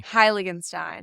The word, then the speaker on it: Heiligenstein: guest today guest chlo is joining us Khloe pronounce your last name for me highstein there you go I would have butchered that